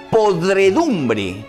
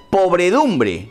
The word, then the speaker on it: podredumbre: vestirse significado ahora de podredumbre con de antes de esa ere porque yo he escuchado decir incluso a congresistas pobredumbre que no existe podredumbre